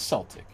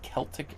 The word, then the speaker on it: Celtic: Barbara says, "Celtic is pronounced with an S." So, it is Celtic. So, does anybody ever say Celtic at all?